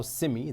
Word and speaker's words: CEMI: advocate for Malaysia's creative community, to discuss how Simei, that's how it's pronounced, CMI, could shape the industry's future, strengthen